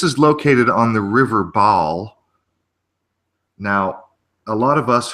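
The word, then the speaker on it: Barle: But this is spelled B-A-R-L-E, and I don't know if it's because of the English accent, but nevertheless, it's pronounced Baal on the River Baal.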